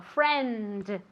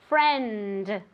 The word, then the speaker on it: friend: Entonces, especialmente al final de una palabra, en España tendéis a comeros esta letra, ¿vale? Y no hay que hacerlo, sino que hay que decirlo. Friend. Friend.